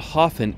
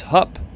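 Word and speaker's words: Höfn: the short one there h-o-f-n it's not hoffen it's hup now back to the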